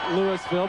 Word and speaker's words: Lewisville: Lewisville spelled like Louisville, but Southern fans know that it's pronounced Lewisville because Ernest Thompson, a prominent running back, hailed from Lewisville, Georgia.